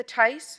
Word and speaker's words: Thies: My name is Tice. That's spelled Thies, and I'm at 3179 Key Largo Drive in Las Vegas.